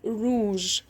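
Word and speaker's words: rouge: أحمر روج. أحمر روج. طيب الكلمة دي حلوة قوي، روج. امال حرف الاو اللي في الاخر؟ الأومية الأومية الأومية يعني ايه؟ مش بنطقها سايلنت، مش بنطقها سايلنت.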